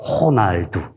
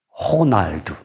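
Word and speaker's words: Ronaldo: 내 을 개발을 만나겠죠 그러니까 이 로는 정확한 발음은 호입니다 호 호날두 되기 발음은 요 물이 말로만 에게 표하며 는 마땅한 테 리 없으니까 이런식으로 제가 쓰겠습니다 호 나 그 다음에 날은 그 날 그 다음에 이제 그 프루트 가로의 선거 5를 우루 발음 하거든요 그래서 2 라고 발음합니다 예 정확한 다른 호날두 호날두 입니다 호날도 예 그래서 어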